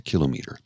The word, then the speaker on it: kilometer: It's not a kilometer, it's a kilometer. It's a kilo and a meter.